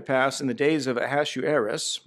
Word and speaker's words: Ahasuerus: in the days of a hasshu heiress that's how it's pronounced to hasshu heiress this is a hasshu heiress which reigned from india